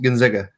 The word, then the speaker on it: Gonzaga: It's pronounced Gonzaga. Gonzaga? Gonzaga. Okay. Yes. Like Talladega, Talladega.